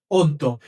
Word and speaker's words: অদ্য: তাহলে উচ্চারণটা এখন কি হয়েছে বলতো? অদ্য নাকি অদ্য। অদ্য। তার মানে হল এই শব্দটাকে আমরা সঠিক উচ্চারণ যদি করি তাহলে সঠিক উচ্চারণ হল অদ্য।